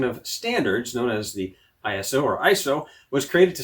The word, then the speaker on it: ISO: from the Greek word isos, which means equal. All these years I've been spelling out the 3 letters when it's actually just pronounced ISO.